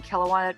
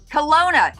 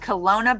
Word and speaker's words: Kelowna: the one and the only tammy cunningham from kilauea kelowa kelawana how do you pronounce it hellona kelowna see i had to just jack it up and make it so different kelowna british columbia welcome thank you thank you so